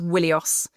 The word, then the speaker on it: Wilios: But in front of it, there used to be a letter that later dropped out of Greek called the digamma, which was pronounced w. So it used to be pronounced Wilios. So Wilios, we think, was Wilusa.